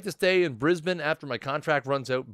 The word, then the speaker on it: Brisbane: I'd like to stay in Brisbane after my contract runs out. By the way, if you notice, I'm saying it differently this week. I'm saying Brisbane.